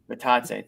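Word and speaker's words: Bitadze: Goga Batadze. Batadze, thank you. And then Bobby's so good at pronouncing names.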